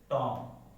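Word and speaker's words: tomb: बी is silent after M.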